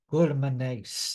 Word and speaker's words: glutaminase: All right, glutaminase, I guess, is how you pronounce that.